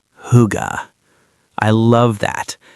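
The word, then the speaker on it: hygge: It's spelled h y g e, but it sounds like huga.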